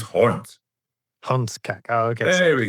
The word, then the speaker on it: hond: Just give me that pronunciation again. Hundkak. It's not hund, it's hond.